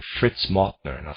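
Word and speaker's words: Mauthner: The thinking of people like Fritz Martner, and I'll spell that, it's Mauthnner, Fritz Martner, is more typical than one might assume, and there are many of them.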